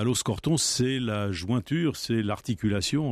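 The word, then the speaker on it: Aloxe-Corton: des formations des deux essais exclut donc à loos corton c'est la jointure c'est l'articulation entre la côte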